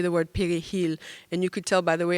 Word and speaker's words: perejil: to say the word perejil. And you could tell by the way I'm saying it that I would not have survived. The key to it is the way that you roll your R.